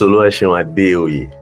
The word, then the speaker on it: OluwaSeun Adeoye: OluwaSeun Adeoye. Did I pronounce that well? It's OluwaSeun Adeoye, actually.